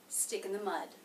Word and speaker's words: stick in the mud: Now the next word begins with a vowel, so the ending consonant here in the word stick will link into that. Stickin, kin, stickin, stickin. That will help us to connect the words and make them very smooth.